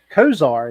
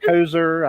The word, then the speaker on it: Kozar: Kozar is actually how you pronounce it. I've heard Kozer. I've heard it. I guess as long as you invite him and you pay him, he's happy.